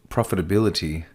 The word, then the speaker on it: profitability: the nil threat okay so we say profitability profitability not profit about profitability okay its profitability okay so that's just a